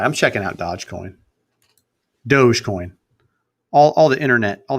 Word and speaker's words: Dogecoin: right I'm checking out Dodge Coin Dogecoin all the internet all the internet people will tell me Dogecoin is the is the way to pronounce it Dogecoin 28 cents no